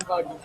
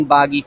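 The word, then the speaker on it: Buggy: natin to ang pangalan niya si Captain Bag Captain Bag So guys Nagkamali ako ng pronunciation. Captain Captain Baggy.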